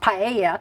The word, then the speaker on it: paella: and you are pronouncing it correctly that is pronounced paia and it is the most popular dish of